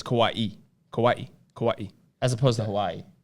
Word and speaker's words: Kauai: say kawaii as opposed to hawaii it's kawaii kauai kawaii as opposed to hawaii no it's no